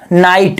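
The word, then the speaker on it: night: का उच्चारण नहीं होता जैसे नाइट एन इट जी ह आया दोस्तों मध्य में ग का उच्चारण नहीं हुआ जैसे राइट राइट में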